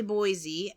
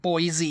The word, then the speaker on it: Boise: happening but it's definitely Boise uh um yeah you can't really think of other words that end with e pronounce the E like e though Boise yeah yeah Boise I